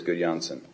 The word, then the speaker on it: Gudjonsson: Yes, it is Gudjonsson. How's my pronunciation?